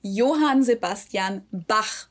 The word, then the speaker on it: Johann Sebastian Bach: and it's not pronounced Johann Sebastian Bach. Bach, but Johann Sebastian Bach.